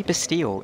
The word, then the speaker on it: Bastille: But honestly, just say Bastille. It's the easiest thing to do, and that's how you pronounce it in English.